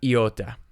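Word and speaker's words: iota: all next we have Yatta Yatta is similar to alpha it looks very similar to our English I however it is pronounced e not I in all the systems finally we have epsilon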